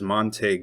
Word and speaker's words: Montague: So from those clips, it seems clear that the people living there refer to it as Monte County. Therefore, we can conclude that the correct Texas pronunciation is Monte, not Monteue.